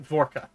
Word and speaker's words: Vorka: kind of sounds like Vorka. And Zane, you would do your best to translate between Infernal and Common, and it would come out roughly Vorka.